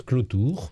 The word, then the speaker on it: Cloutour: c'est à propos de votre nom qui s'écrit cloutour oui et qu'on prononce clautour donc je me demandais